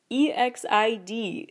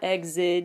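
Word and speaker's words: EXID: I pronounce it frankly e XI D that's how it's spelled and pronounce it is not exit as an exit with a d it's just exi D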